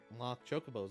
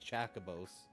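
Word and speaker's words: Chocobo: I'm telling you, the the Mogmog Mughal team will make it and we'll probably play the Chocoos on the final. Your pronunciation's all wrong. It's Chocoo, not Chakabos.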